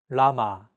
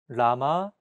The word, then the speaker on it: 라마: This sound is actually somewhere between an L and an R sound. When pronouncing this sound, your tongue should strike the gum ridge behind your upper teeth in a quick, rapid motion.